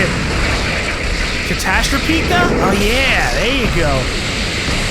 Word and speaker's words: Catastropika: Havoc this isn't exactly going to be like catastrophy I don't even remember how to say it catastropika oh yeah there you go but it still